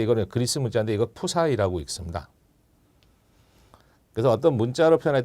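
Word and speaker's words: ψ: 그래서 요거 글자를 이제 글자로 읽을 때 이거는 그리스 문자인데 이거 푸사이라고 읽습니다.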